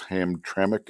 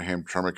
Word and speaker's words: Hamtramck: city in Michigan, in case you're wondering, is Hamtramck. I believe I pronounced that right. I think that's how Moose said it was pronounced. So, both Dearborn and Hamtramck, if I understand correctly, are not that far from Detroit.